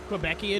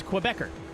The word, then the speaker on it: Quebecer: you're not from Canada quebecan is is is incorrect it's quebecer you spell it like you normally would q e b e